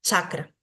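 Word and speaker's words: cakra: el sistema iast sería escribir la palabra de esta forma sin una H no chakra ahora la pronunciación sí es chakra Entonces tenemos que recordar que siempre que veamos una C para nosotros se va a pronunciar como una ch cha cuando vemos Esta J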